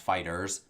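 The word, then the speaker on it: FighterZ: Dragon Ball Fighter Z which i think is actually supposed to be pronounced fighters with the Z at the end of it so that's what's been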